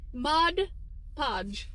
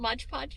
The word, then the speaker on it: Mod Podge: do you say it Mod Podge not Modge Podge not Maj Podge okay sounds like your